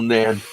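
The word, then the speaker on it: Nene: Always confused me, the river Nen pronounced Neen or Nen. Yeah, well, being moored on the river Nen, because we were moored in Northampton, they call it the Nen in Northampton, and it's called the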